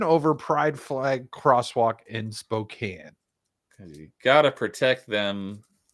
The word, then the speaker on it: Spokane: Spokane Police Department Spokane why did I say Spokane I know it's said I know it's pronounced Spokane that's weird the Spokane Police Department announced the